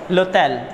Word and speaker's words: l'hôtel: Okay, so here we use L apostrophe, we pronounce it together, l'hôtel, we pronounce it L'hôtel, that means hotel.